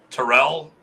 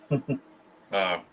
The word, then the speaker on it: Terrell: So I've got next week GM/Guru Terrell Richardson. Oh, nice. Great. And it is Terrell. I've been a dumbass and mispronounced his name. Terrell, not Terrell. Terrell.